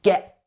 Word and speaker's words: get: Notice that we don't pronounce the t on the end of get here. It's like a glottal stop. It's get. It gets cut off in the middle.